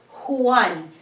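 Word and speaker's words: Juan: so this one the the proper pronunciation of this name is who won because it's from Spanish name the English term for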